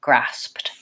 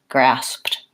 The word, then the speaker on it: grasped: words talked or walked they really have just a T sound at the end rather than anything like a D or an e d talked grasped so you may find